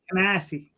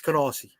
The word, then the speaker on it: Canarsie: You said it wrong. It's Canarsie. No. From somebody who lived there, it's Canarsie.